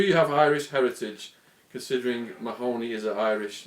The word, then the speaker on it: Mahoney: My dad's name is Mahoney, it's Mahoney, but it's pronounced Mahoney. Do you regret any of it?